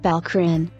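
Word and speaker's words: PELCRN: following are the treatment p-e-l-c-r-n pronounced balcrin the casualty on their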